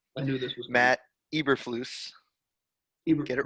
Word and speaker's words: Matt Eberflus: had to stack correct your colts defensive coordinator pronunciation i knew this was matt eberflus hebrew get it right edward everett flaus ever